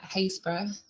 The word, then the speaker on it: Happisburgh: Um today I'm going to be talking about some of the ongoing work at Hayesbor um confusingly spelled Hapisburg but pronounced Hazes.